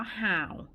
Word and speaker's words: 好: มา รวม กัน แล้ว อ่าน ว่า ห่าว ห่าว แปล ว่า ดี คน